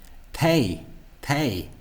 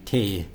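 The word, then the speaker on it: té: So that So I suspect that this is going to be mispronounced as something like tay, when it should be te.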